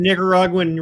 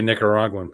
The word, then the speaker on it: Nicaraguan: watched how you say Nicaraguan there brother yeah I know I did I did watch How I said and I never even thought word there's no G in the first syllable of that word that's correct I believe